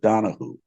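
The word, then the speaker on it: Donahue: name is Kimberly donaho spelled like Donna Hugh but she pronounces it Donna who so she became news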